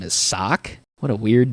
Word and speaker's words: Seok: And we find out that the guy's name is Sock. What a weird name. Seok. Yeah, it's not spelled, but it sounds like they're saying sock, like an actual sock.